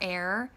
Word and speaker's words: Er: this firstborn son whose name was her or air ER is how you spell it was a wicked man and he died